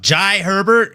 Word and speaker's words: Jai Herbert: Jai Herbert is is the right way to say it.